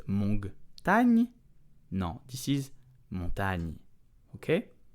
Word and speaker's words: montagne: So GN is n, like the ni in onion, okay? So never a hard G followed by an N. This is not montagne.